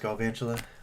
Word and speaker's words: Galvantula: Did you know it's pronounced Galvantula?